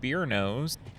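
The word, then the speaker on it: Barno's: Once I got done with that, I went over to a pizza place called Beer Nose, and it's spelled B A R N O apostrophe s.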